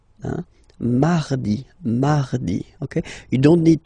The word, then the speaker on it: mardi: Then mardi, mardi. So you can hear that you don't pronounce it that strongly, this R. Huh? Mardi, mardi, okay?